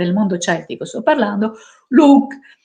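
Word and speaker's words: Lugh: mondo celtico sto parlando Luke e si scrive l g h che muta ovviamente Dio della luce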